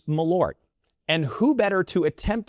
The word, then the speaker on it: Malört: It's two syllables, but it lingers longer than anybody really wants. That topic is meort.